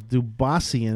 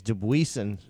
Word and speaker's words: Dubuisson: And Bubba Watson versus Dubassian, or how do you pronounce this guy's name? Dubuisian. He's from France. Oh, I think it's Dubuisson.